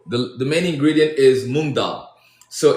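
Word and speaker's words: moong dal: Oh, the the main ingredient is mongdal. So it's it's spelled M O O N G and then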